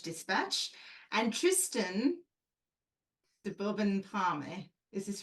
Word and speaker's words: Parme: No, it's farm. You don't put an accent on the last Parme.